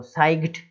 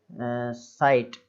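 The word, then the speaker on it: sight: तो साइग्ड, GH को घा नहीं पढ़ना, याद रखें वो साइलेंट है, साइट इस तरीके से, इतना ही बोलना है।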